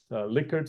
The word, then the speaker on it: Likert: We've seen this a lot, Likert style questions. By the way, it's pronounced Likert, not Likert.